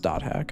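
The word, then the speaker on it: .hack: It is pronounced dot hack, okay.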